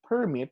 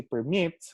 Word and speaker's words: permit: Now, there is this so-called stress shift once or depending on the part of speech. For example, if it is a noun, such as in the word permit, the stress is on the first syllable. On one hand, if you say permit, which is a verb, the stress is on the second syllable.